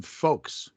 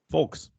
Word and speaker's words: folks: on the fact that brandon actually pronounces the l in folks folks false false like volk